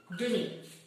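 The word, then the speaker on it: demie: La E no se pronuncia aquí.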